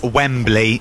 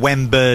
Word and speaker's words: Wembley: wrong Matt Fincher yeah a lot of people are saying it's Wembley wem you're going weberly yeah but I think